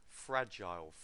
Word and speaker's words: fragile: Stress on the first syllable and it's a ah sound. I've got a lot of you saying fragile, it's fragile, and just make sure you get the ah sound correct.